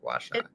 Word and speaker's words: gua sha: hot bamboo massage or gua sha. Is that how it's pronounced? Gua sha.